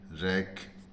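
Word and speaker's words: rack: उच्चारण नहीं होता है केवल केवल सी का उच्चारण के होता है जैसे आर ए सी के रक बी ए सी के बैक एनसी के नेक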